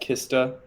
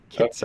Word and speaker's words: Kitsa: And I'm going to go ahead, tap Kista. Kitsa. Kitsa. I'm sorry, I cannot pronounce that. That's okay. It's Draw a like Kit card. Kat, but Kitsa.